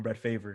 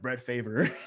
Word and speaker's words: Favre: famous clip of with when Brett Favre gets drafted and they call him Brett Favre because it's spelled that way, and then when they announce it, the Atlanta Falcons select Brett Favre, and it's just it's